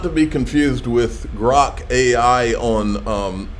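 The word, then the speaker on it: Grok: grock thank you Becky uh it's grock and we spell it with a Q and it's because it comes from a science fiction novel and it means to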